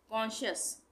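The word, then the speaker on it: conscious: उसके बाद ये क्या है? कॉन्शियस, कॉन्शियस, यहाँ पे हम इसको क्या पढ़ेंगे? कॉन्शियस, तो सी का उच्चारण नहीं होगा, कॉन्शियस।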